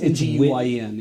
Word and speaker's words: Nguyen: It's NGUYEN, yeah. Yeah. Isn't it pronounced kind of more like Win?